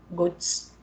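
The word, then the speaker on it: Götsch: Thiago Tadeu Campos a técnica criada por Hermes Ghost Ghost pronúncia certa tá gente tem feito cada vez mais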